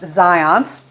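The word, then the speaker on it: Zajonc: a researcher named Zions the spelling would not make me think that it's pronounced that way but I've always heard it pronounced Zions and he did a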